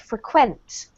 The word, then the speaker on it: frequent: somebody does something, but in this case it's used as a verb and it's pronounced frequent.